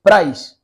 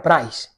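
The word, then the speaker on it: πραΰς: griega usada aquí es price bueno así es como se pronuncia se escribe Es que se me ha olvidado poner la diapositiva de la palabra pero se escribe praus no y se pronuncia price y significa humildad la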